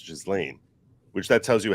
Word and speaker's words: Ghislaine: me pronounce it as Ghislaine. Not like a Ghislaine, like a soft S. Ghislaine, right? Like a soft S. So the S is pronounced.